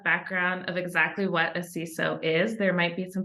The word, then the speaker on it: CISO: So a CISO obviously is a Chief Information Security Officer. We pronounce it CISO. Other people pronounce that acronym in other ways.